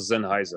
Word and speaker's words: Sennheiser: Il semble qu'il faut prononcer Sennheiser. Ah oui, c'est juste Sennheiser. Écoute, j'écoutais les vidéos de l'entreprise, c'est Sennheiser. En allemand, il faudrait probablement dire Sennheiser. Sennheiser.